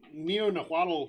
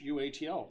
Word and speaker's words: Neo-Nahuatl: Neo-Nahuatl, just like it sounds. Neo-Nahuatl. Just like Quetzalcoatl.